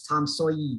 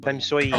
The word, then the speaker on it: Tom Sawyer: You're not saying it right though. It's Tom Sawyer. Tom Sawyer.